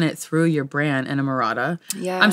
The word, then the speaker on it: Emrata: And you've done it through your brand and Emrata.